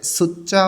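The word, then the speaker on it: 숫자: আজকে আমরা এবং আছে সুচ্চা ওয়া ফুল্লি উসা সুচ্চা ত ধ্বনির বাচ্চিমের পরে যখন জিউত আসে তখন জিউতটা চ এর মতন উচ্চারণ হবে সুচ্চা অর্থ সংখ্যা ওয়া এবং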